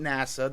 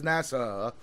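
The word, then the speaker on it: NASAA: the state regulators NASA when you pronounce that you've got to make sure you pronounced both final A's this isn't NASA they're not launching rockets this is NASA it's also much more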